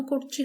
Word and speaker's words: কর্তৃ: তোমরা একটু লক্ষ্য করো কেন কর্তৃ হলো ক এর সাথে অ ছিল তারপর একটা ঋ পেয়েছি সে কারণে কিন্তু হয়েছে কর্তৃ তিন নম্বর নিয়মটি দেখি